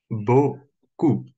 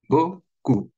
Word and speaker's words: beaucoup: Боку. Вот это ЭАУ всегда читается как О. О.